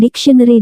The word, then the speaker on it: dictionary: sedangkan kamus itu harus dibaca diucapkan dictionary dan r nya tidak boleh kedengaran benar hanya bermain-main di ujung lidah antara kedengaran atau tidak Amerika kita sebut menurut